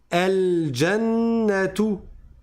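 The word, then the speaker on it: الجنة: Ça c'est un alif de liaison. Il y a pas la hamza, n'est-ce pas ? Donc je dis al donc c'est un alif et il est en début de phrase. Alors je le prononce el jannat. D'accord. Mais ça ne se prononce qu'en début de lecture.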